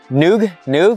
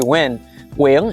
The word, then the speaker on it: Nguyen: Some people always butcher my last name like that. But yeah, it's actually Nguyen is how you really pronounce it with the accent.